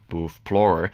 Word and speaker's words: BOOTHPLORER: someone telling me just remove the X from Explorer and just call it BOOTHPLORER. People will know because of like how the word is like pronounced, like Booth Explorer, BOOTHPLORER.